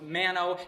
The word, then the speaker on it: Mano: Well, it's mono, but it's not spelled M-O-N-O. It's not like mononucleosis. No, it's mano, M-A-N-O. But in India, they pronounce A's as soft U's, so it's actually mono. But no one can really say mono in Canada, so they just pronounce it mono, and everyone calls me mono.